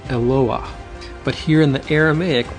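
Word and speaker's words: אלוה: of the Bible Elohim in the singular it's pronounced eloa but here in the Aramaic we can see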